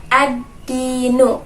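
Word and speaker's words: الدين: Hai tsunami Ciamis ya Jadi kita harus membacanya dengan melebur atau cita-citaku kan dia jadi Bacanya adalah addinu versi itu Oke jadi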